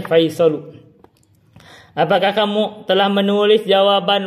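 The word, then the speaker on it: فيصل: Al-mudarrisu akatabtal ajwibata ya Faisalu, bacanya Faisalu, apakah kamu telah menulis jawaban wahai Faisal?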